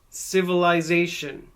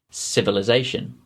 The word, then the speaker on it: civilisation: them again in rp civilization authorization modernization civilization authorization modernization now you could probably hear that at the beginning of that suffix ization instead of saying ization i say is asian civilization is asian civilization it's